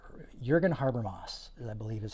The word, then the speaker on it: Jürgen Habermas: It's Jürgen Habermas. Jürgen Habermas, I believe is how you pronounce it.